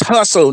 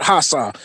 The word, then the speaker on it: hustle: It's hustle, not hassa.